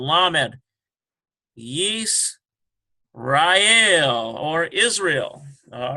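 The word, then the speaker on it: ישראל: Yis, Rael, or Israel.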